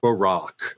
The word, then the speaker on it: Barack: on this show, but my former president's name is Barack. So let's at least give him that respect that he became the president to say his name properly.